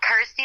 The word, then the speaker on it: Kirsty: and of course obviously it helps that it's you know rhymes with my name and helps people pronounce my name correctly so I'm like cool Kirsty like thirsty got ity like thirsty